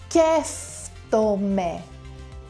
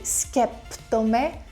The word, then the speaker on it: σκέφτομαι: Σκέφτομαι. Σκέφτομαι. Don't say σκέπτομαι.